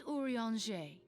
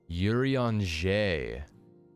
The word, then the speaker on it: Urianger: Last but not least is Urianger, who presides over all affairs within these halls. Pray seek him out whenever you have questions. Urianger.